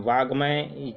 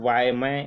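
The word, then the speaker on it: वाङ्मय: तो वाग्मय शब्द जो है इसमें सही है, वाग्मय, ठीक है। वायमय और वाकमय ये जो है गलत प्रोनाउंसिएशन है इसका।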